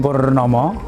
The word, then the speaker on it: Purnama: Hai saya nama saya Purnomo porno memang porno itu tulisannya Purnama itu karena apa Karena karena ejaan bahasa Indonesia yang benar kalau kepingin dipanggil Purnomo tentu manggilnya kan Nulisnya pakai Purnama itu menurut guru saya